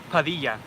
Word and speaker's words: Padilla: Padilla.